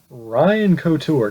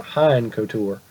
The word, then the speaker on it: Couture: Haim Godzilla taking on Ryan Couture. Now it's Ryan Couture, not Hein Couture.